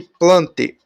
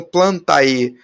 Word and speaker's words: Plantae: Só voltando aqui rapidinho, vocês devem ter reparado lá que eu não estou falando Plantae, eu não estou falando Felidae, porque a pronúncia, né, a gente não vai falar esse Azinho, né, que nem o Aedes aegypti, né, a Aedes aegypti.